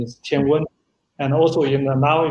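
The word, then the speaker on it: 天问: For the, also for the Mars mission, and the name is also pronunciation in Chinese is Tianwen.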